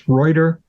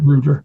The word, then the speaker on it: Reuter: r e right right right in the German pronunciation it's reuer um and then the Americans seem to have U made it Rudder so I'm trying to say it the right